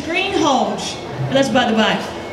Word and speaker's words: Greenhalgh: The correct pronunciation of my last name is Greenhalgh.